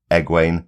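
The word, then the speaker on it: Egwene: episode uh on the show she's being called EG way so that is what we have to try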